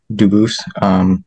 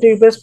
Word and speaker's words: Dubus: I am Dubus. Dubus is the English pronunciation. Dubus is the original French.